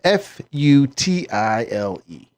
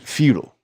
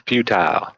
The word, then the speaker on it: futile: that they use in this commercial well it's it's spelled f u t i l e that's the word the issue I have is they pronounce it feudal that's futile it's futile like I can understand if you